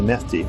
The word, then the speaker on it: Mahdi: reestablishing the coming of the Mehdi, or the Mahdi, depending on which place you live on, the pronunciation differs.